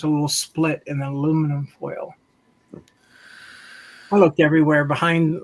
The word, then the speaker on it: aluminum: Oh, by the way, the correct pronunciation of aluminium is aluminum.